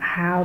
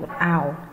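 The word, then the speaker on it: hour: trong trường hợp này chữ H trong câu C là bị câm chúng ta không đọc là how mà chúng ta đọc out out chứ hơi bị câm chúng ta khoanh vô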